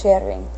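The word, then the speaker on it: kjerring: It means, oh no, that's a KJ combination. That means that's an SH pronunciation, so that's sharing. Sharing. Oh man. Yeah, that's a sh sound.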